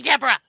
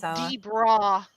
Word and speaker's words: Debra: We'll still do ghost stories, but don't call me Deborah. And you did spell it wrong. Yeah, that makes me feel better. I'm the Debra.